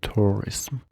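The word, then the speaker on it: tourism: گردشگری رخ داده استal حواستون باشه این یو اینجا تلفظ میشه تورسم لغت فکر کنم لغت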